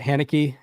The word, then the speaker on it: Haneke: Well, are you anybody going to pick up that Haneke?